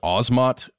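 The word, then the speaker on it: Asmat: in search of episode Leonard Nimoy he he pronounces it as osmot and I wrote down I wrote down the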